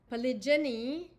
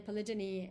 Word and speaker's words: polygyny: Polygyny, and I've also heard it pronounced polygyny, but polygyny is the practice of having multiple wives, and polyandry is a form of polygamy.